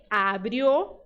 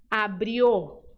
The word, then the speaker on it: abrió: dizer sempre o o então abrió errado abrio abrio Cola não se diz Cola